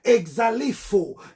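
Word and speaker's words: ἐξαλείφω: Le verbe effacer qui est ici, c'est la traduction du mot grec exalifo. Exalifo. Comme nous avons vu le dimanche d'avant, exalifo. Exalifo s'écrit E-X-A-L-E-I-P-H-O.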